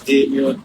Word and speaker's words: Daemeon: Yes, so yeah, the artist's name is Daemeon, but it's spelled.